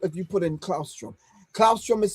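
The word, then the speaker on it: Claustrum: Clausrom is spelled C L A U S T R U M.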